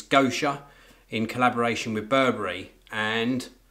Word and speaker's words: Gosha: these were a collaboration is either pronounced Gosha or gasha I think it's go sure in collaboration with Burberry